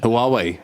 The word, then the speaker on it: Huawei: How do you pronounce the name of this company from China that makes starts with an H? Huawei.